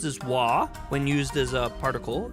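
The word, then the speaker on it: は: Despite being pronounced as wah, the ha particle is used.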